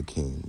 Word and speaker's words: KXNG: I go by King, and that's spelled KXNG.